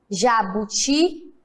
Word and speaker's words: jabuti: Quando eu falo jabuti, se eu gritasse o jabuti, como ficaria? Jabuti! Qual foi o mais forte? Qual que eu estiquei mais? O ti.